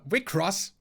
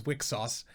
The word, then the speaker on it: Wixoss: selector infected works uh wick cross god damn it. Uh not reading that like it's written is really hard. Uh seeing as I do know that that's uh not uh pronounced as wicksauce because uh that is